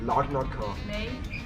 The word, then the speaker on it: Larnaca: Ah, wir gehen, wie spricht man es aus? Lanarka. Larnaca. Doch. Er hat doch gesagt Larnaca.